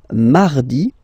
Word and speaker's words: mardi: So you can hear that you don't pronounce it that strongly, this R. Huh? Mardi, mardi, okay? You don't need to go too deep like mardi, no, no, no. You don't move your tongue, so it doesn't sound like mardi, no.